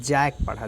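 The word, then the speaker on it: Jacques: जैक Laka, इसको जैकस मत पढ़िएगा, उसको लाकान मत पढ़िएगा, ठीक है। जैक पढ़ा जाता है इसको, जैक लाका, ठीक है।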